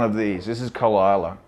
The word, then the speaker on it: Islay: A lot of people mispronounce it as Islay, but it's actually pronounced Isla.